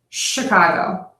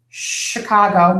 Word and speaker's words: Chicago: of our city is Chicago not Chicago so it's not the CH sound it's Chicago not Chicago Chicago how